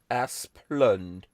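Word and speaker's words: Asplundh: ah splunk are splend the first syllable rhymes with ma second syllable fund ass plund nation's largest utility um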